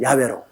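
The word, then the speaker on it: 야웨: 어디나 여호와 이름 나오면 그대로 우리 아버지 정한 발음이 야외로 그렇게 발음을 합니다 자기 아버님 이름도 올바르게 바람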